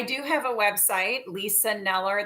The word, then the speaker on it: Kneller: have a website Lisa neller the K is silent k NE l l